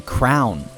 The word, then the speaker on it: crayon: um in my life heard a third pronunciation uh that being Crown like a like a monarch you know what I